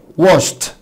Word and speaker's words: washed: طب washed هتقولي نطق التا عشان بعد الشه ساوند فتبقى washed.